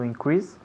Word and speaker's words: increase: To increase. Muy bien, good. To increase. Repeat. To increase. Muy bien. To increase. Fijaos bien dónde ponemos el énfasis. Pues recae en la segunda sílaba.